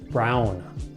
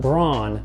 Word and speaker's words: Braun: tough even for Americans it's technically pronounced Brown not Braun necessarily but Brown another car manufacturer this